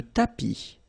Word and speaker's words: tapis: Le tapis. Remember final S not pronounced. Le tapis.